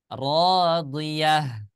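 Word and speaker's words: راضية: Maka huruf tak marbutoh ini ya kita jadikan huruf ha yang berharokat sukun. Jadi bacanya gimana? Radiyah. Nah, seperti itu ya.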